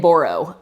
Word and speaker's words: Boroux: to burrow b o it's spelled BAU you say say it borro um but I reached